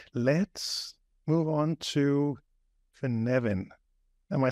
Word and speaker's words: Cynefin: So that's how I heard him pronounce it.